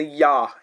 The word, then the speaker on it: ya: say yak, we say ya, ya. So this is how it is pronounced like. So IA has the sound as ya, and whenever it is a stand alone syllable.